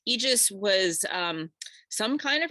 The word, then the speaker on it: Aegis: afraid of something called the Aegis I pronounced it a little bit funny in my podcast my apologies I had to actually look up how to pronounce this Aegis Aegis Aegis was um some kind